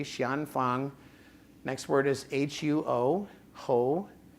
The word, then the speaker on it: Xian Fang: I started using it and that is I'll spell it for you xan x i a an f a n g Shian Fang next word is huo ho next word is